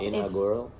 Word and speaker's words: inaugural: Remember, we've got that ah sound, right? So let me hear you say it. Inaugural. Look, okay, yeah. It might help. Inaugural. Very good, that's much better, yeah.